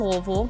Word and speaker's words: Louisville: You're about an hour from Nashville, less than 2 hours from Louisville. Yes, that's how you pronounce it.